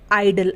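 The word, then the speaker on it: idle: होगा यानी की वो साइलेंट रहेगा तो ये बन जाएगा इड आईडी ल ए आइडल आइडल यानी आलसी इस तरीके से आइडिया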